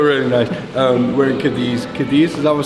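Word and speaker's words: Cádiz: Cadiz, is that what I'm saying it right, Wallace? Gadi.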